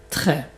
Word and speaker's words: très: Très. Very. Et pas trop. Donc très. Donc la bouche est beaucoup plus ouverte comme tu vois.